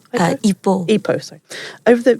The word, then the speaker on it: Ipoh: Ipoh? Ipoh, sorry.